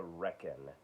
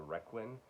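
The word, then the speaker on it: Requin: a loss uh because i thought you pronounced it the requiem and that's not at all it's the reckon like you're wrecking something i'm gonna wreck it um this was okay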